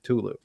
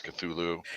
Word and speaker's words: Cthulhu: should watch you know i always thought it was it was properly pronounced ctulu and it probably was at first but now it's entered the lexicon as cthulhu and so much that that's what it is like neanderthal and